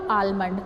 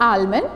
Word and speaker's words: almond: So that is not almond. This is what? Almond. L is silent here. This is not almond.